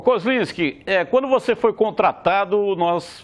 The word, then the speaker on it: Kozlinski: É exatamente como você falou, Kozlinski. Lendo ele como ele é escrito, às vezes as pessoas acham difícil, mas se você for ver bem assim, da maneira com que ele é escrito, ele é pronunciado, porque na minha cidade